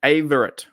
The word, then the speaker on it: Averett: How do I pronounce his name? Not Avery, is it? No. Anthony, not Avery. So Anthony Averett.